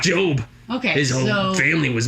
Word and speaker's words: Job: Not Job. Okay, His whole family was murdered, I think. But yeah, that's my name. Okay, great. It rhymes with robe. Uh-huh.